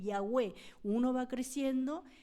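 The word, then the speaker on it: Yahweh: de Jehová es yagé en hebreo realmente se pronuncia así yahwe uno va creciendo Y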